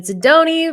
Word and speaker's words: Sidoni: today we've got david zidoni rhymes with baloney welcome to the show